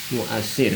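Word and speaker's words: مؤثِّر: Kalau ini ta'siril mu'assir ya. Dan ini tulisannya sama tapi bacanya beda ya. Karena artinya beda.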